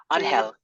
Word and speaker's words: Angel: Angel. Yeah, they Angel? do go by Angel, but they're Dominican, and we like to stick to the proper pronunciation, you know?